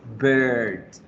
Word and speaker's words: bird: Pero la pronunciación es bird. Como cumpleaños, ustedes no dicen happy birthday, ¿verdad? Nunca decimos happy birthday, decimos birthday. So, bird se pronuncia bird, right?